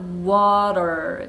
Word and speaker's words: water: 언제 특히 그러냐면 모음과 모음 사이에가 있을 경우에 거플라고 하는데요. 요거 리을 소리로 달라져요.